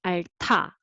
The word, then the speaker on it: 앓다: Okay, so 알타, 알타, not 알다, but 알타.